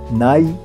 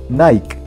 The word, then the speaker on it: Nike: su principal competidora ribot la palabra night y se pronuncia normalmente en dos sílabas nike que no obstante en algunos países de latinoamérica se pronuncia en una sola sílaba casualmente casi igual al apellido de su fundador night pero con el sonido del acá al final nike el logo nike siendo